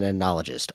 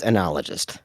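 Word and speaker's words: oenologist: So like a someone who studies wine is an anologist. O E N O L O G I S T. They're an an but it's pronounced anologist.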